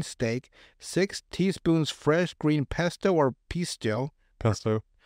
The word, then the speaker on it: pesto: 10 oz sirloin steak six teaspoons fresh green pesto or pisto pesto how do you say pisto pesto they still pesto yeah they're both pesto p s o and then one p i s t o u pistu there you go pist like that's not pesto